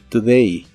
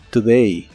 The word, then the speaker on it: today: hablando de este día la letra o de esta palabra se pronuncia como una u muy muy suave y corta today today y usaremos la frase